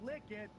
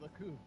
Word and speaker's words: Likud: And by the way, I keep asking Google, how do you say this? And it keeps saying Likud. I'm like, you I thought it was like Lacoon.